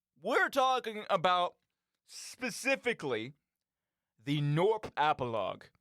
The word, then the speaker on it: Gnorp: We're talking about specifically the Norp Appalog. The NORP Appalog is spelled G N O R P, right?